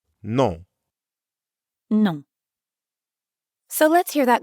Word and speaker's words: non: Well, in that case, he could simply say non or no. It rhymes with bon in bonjour. Non.